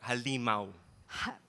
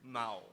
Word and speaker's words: Halimaw: know, actually, you pronounced it wrong. It's Oh, medyo mas malito. Halimaw. bakit kailangan? Yung Tagalog mo is medyo off. Ah, sige. Halimaw. Yung Halimaw? Mao. Mao.